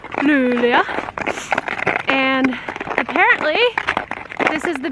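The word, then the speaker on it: Luleå: We are in what I how I would pronounce it, Lululea. But I think it's actually Lula.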